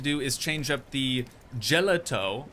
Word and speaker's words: gelato: And the next thing that we're going to have to do is change up the Gelato. I know it's pronounced Gelado, but we need to get this changed to a Cosmic Cow Milkshake sign now instead.